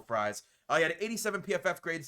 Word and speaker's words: Fries: be signing will freeze will fres I believe is actually pronounced it I was trying to be nice I think it is Will fries he had 87 PFF